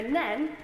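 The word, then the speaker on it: Nene: Rutland I have to remember that it is pronounced the river nen not n as I was frequently quizzed on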